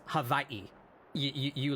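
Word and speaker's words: Hawaiʻi: So firstly they they they pronounce W's like V's. So it's is that it's not Hawaii, it's havi.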